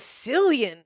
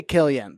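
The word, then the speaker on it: Cillian: they beautiful my God I thought it was slian I always say Killian but it's Killian it is that's how they say it in Ireland you stupid [ __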